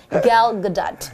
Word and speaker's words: Gal Gadot: So we're still talking about this beautiful, talented actress, Gal Gadot. That's it's not an easy name to pronounce, is it? I know, it took me a few practice to get her name right. Gal Gadot.